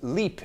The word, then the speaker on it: Lip: myself pt mentions that lip is pronounced leap in france and that is the